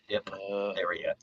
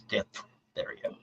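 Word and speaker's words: diphtheria: e r i a it's not Dipa it's D therea when I was in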